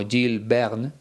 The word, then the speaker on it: Jules Verne: Como te decía en otra ocasión, creo que en francés se pronuncia algo así como Jules Verne.